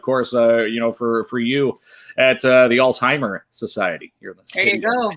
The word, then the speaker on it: Alzheimer Society: And I'd say it's Alzheimer's Society.